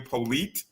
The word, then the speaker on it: Polite: So just to kind of give people who might not be familiar with Eryn, Eryn again, Polite is how you say her last name.